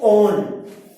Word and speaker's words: one: Now prefix और substituent नहीं है, सो prop एन prop एन टू ओन, ये वन नहीं है, we will pronounce it एज ओन. ONE is the suffix of ketone.